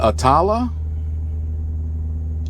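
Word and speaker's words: Attalla: to breathe in here how do you pronounce it atala atala a t t a l l a that's where I'm at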